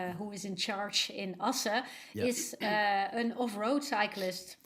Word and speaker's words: Assen: You have a group in, I don't know how you pronounce it. It looks like Assen. Assen. Okay. Pretty good, Olly. Yeah, that's it.